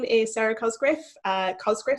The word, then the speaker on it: Cosgriff: I've been called many things in my life. It's been Cosgriff, Cosgrove, Cosgrave.